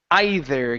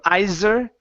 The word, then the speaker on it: either: is uh the word either give me a th here instead of iser ZZ it's the with your tongue between your teeth either okay either no